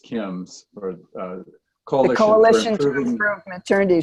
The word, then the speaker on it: CIMS: CIMS is pronounced KIMS, or Coalition to Improve Maternity Services.